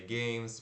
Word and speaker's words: game: Se escreve G-A-M-E, como se fosse game, né? Mas se pronuncia G-E e curto M, né? Esse G é o som do G, né? G, G-E-I-M. Game, game, game.